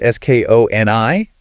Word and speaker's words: Skoni: We also want to thank Skoni, that's S-K-O-N-I, pronounced Skoni, the premium golf shoe store, for supporting today's show.